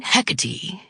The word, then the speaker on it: Hecate: While I favor the modern pronunciation, Hecati, the origins of the name are both classical and ancient, and will speak of a woman of great fortitude and significance.